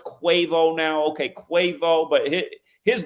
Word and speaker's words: Quavo: and I know earlier I was saying the name wrong quavo I know it's quavo now okay quavo but his birth name is